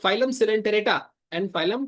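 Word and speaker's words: Coelenterata: Phylum सेलेंटरेटा and phylum Ctenophora. ये सी silent, ठीक है। इसको कोइलेंटेरेटा मत पढ़ना, ये क्या है? सिलेंटेरेटा, सिलेंटेरेटा, okay.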